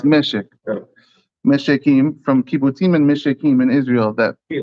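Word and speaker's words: מֶשֶׁק: So it's pronounced Meshek.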